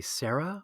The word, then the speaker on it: Sayre: It's an English family name, and yeah, it's just one syllable. Oh, okay, Sarah.